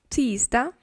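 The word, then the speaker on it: tisdag: забуваємо її написати але можемо забути Трошки її вимовити Так ми будемо звучати більше як швед монда тізда тізда унзда унзда четвер тужда тужда перше Ось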